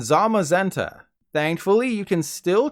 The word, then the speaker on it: Zamazenta: You probably said Zacian and Zamazenta, right? Well, I've got even more bad news. It's actually Zacian and Zamazenta.